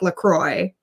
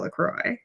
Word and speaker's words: LaCroix: is in minnesota and everyone in minnesota calls the lake lacroix so i think you just call it lacroix yeah i bet i bet there was like some kind of uh french uh colonialism colonial guy you know who came in was like this is called la claw and uh there's a